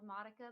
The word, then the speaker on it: Modica: like that or modika i think it's called modica but we pronounced it modika and there's like this